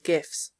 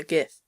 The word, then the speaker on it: GIF: focal point of my gif GIF stands for graphics interchange format which is why I pronounce it gif not GIF because it's not graphics in an empty slide